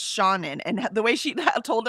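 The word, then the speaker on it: Seanan: And she says no no it's Shaunen. And the way she told us is that's how her name is pronounced. Okay. And she says it's Shaun in. She says like let Shaun in.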